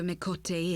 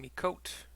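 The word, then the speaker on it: Miqo'te: bloody mess of a mikote is my name is and I belong to the alamigan resistance I've been pronouncing me coat mikote incorrectly this whole time I came to Oneida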